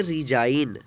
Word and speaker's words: resign: यहाँ पे देखिए एन, एन से पहले जी है तो जी साइलेंट है। RESIGN, इसको पढ़ेंगे रिजाइन।